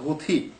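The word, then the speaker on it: الحوثي: থা হয় সেই কারণে অনেকে আবার বলছে হুথি অনেকে আবার হুদি আসলে এগুলো সব একই জিনিস আরবি শব্দ হুথি এর উচ্চারণ অন্যান্য ভাষায় এক্সাক্টলি না হওয়ার কারণে মানুষ এরকম উচ্চারণটা করছে এই সম্প্রদায়টা কি এই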